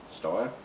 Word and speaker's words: Steyr: I had a look at I think the proper pronunciation is Steyr.